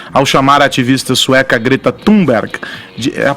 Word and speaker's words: Thunberg: O porta-voz da presidência, Otávio do Rego Barros, disse ontem que Jair Bolsonaro não foi descortês ao chamar a ativista sueca Greta Thunberg, a pronúncia é essa mesmo?